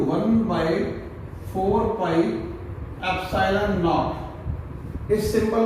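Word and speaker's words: ε: ये बोलते हैं इसको एप्सिलॉन। क्या बोलते हैं इसको? एप्सिलॉन। कई लोग इसको एप्सिलॉन भी बोल देते हैं। वो इंग्लिश की प्रोनाउंसिएशन का फर्क है।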